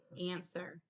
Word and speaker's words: answer: Answer. Can you tell me how you spelled it? ANSWER. Good job. You remember that W being silent.